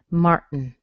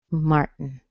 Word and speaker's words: Martin: end up with is your tongue on your teeth to make the T, Mart, and then don't move it, make the N, Martin, Martin, Martin.